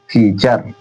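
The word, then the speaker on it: feature: टी के बाद अगर यू आर इ मिल रहा है तो उसका उच्चारण वहां क्या पढ़ना है? च।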